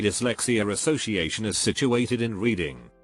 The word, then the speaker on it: Reading: The UK Dyslexia Association is situated in Reading. Pronounced Reading to those unaware.